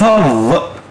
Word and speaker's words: of: animals حيوانات كتير lots of الاف هنا بتتنطق V lots of animals lots